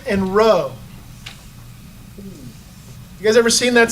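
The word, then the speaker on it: rho: cry for Christ is Kai and Roe so this makes kind of a a hard C sound like a k sound the X does and then what looks like a p is a row which is the r sound okay and so it's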